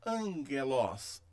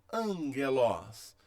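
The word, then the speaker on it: ἄγγελος: Observe que aqui temos dois gamas juntos. Então eu leio angelos, angelos.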